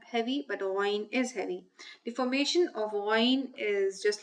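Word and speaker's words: غين: This letter is called ghayn. Now the sound of ghayn is gha, which is a heavy sound, so it is pronounced with a fuller mouth.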